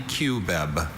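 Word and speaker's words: cubeb: Can I have can I have alternate pronunciation? There's only QBEB.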